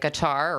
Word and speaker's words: Qatar: Maybe it's not as in depth, but when you look at really, really wealthy countries in the Middle East, like Qatar or Qatar, what they call it, it's Q, I think it's it's ATAR.